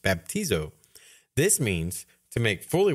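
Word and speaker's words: βαπτίζω: covered in his blood the Greek word for baptism in the Bible is pronounced baptizo this means to make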